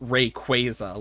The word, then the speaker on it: Rayquaza: I mean, I know they confirmed that um Rayquaza is pronounced Rayquaza, like quazar, and I'm like, I